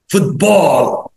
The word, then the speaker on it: football: Football. واوعى تقول football. ناس كتير بيغلطوا يقولوا football.